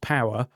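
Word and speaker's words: Poer: GWM launches poor. that's going to be pronounced power 300 in the UK as a diesel pickup for 31 grand.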